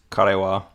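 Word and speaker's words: かれは: Well, it is karewa. When wa is used as a particle, you use ha. Well, actually, sometimes also not. Like konnichiwa is spelled with an HA as well, or the ha character.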